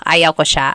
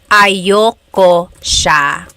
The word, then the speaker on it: ayoko siya: Usually it's pronounced ayoko siya. So if you want to sound a little bit more natural, you put everything together, ayoko siya. Ayaw ko siya is ayoko siya.